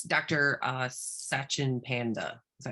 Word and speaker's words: Sachin Panda: Sachin Panda. Is that how you say it? SACHIN PANDA, just like the bear. Cute little panda bear.